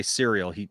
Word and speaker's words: cereal: He doesn't say cereal. For some reason he pronounces it Cyril. Always has.